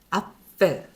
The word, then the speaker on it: Apfel: 이게 PF 발음을 할 때 말씀드렸습니다. 아펠 이렇게 발음하라고.